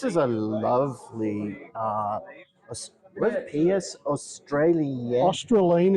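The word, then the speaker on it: Australind: Australine, it's pronounced.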